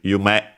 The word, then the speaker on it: 夢: As for its pronunciations, we have Yume. No, actually accented on the second one. Okay, so I didn't remember it correctly. Then I second guessed myself. So it's actually Yume and means dream.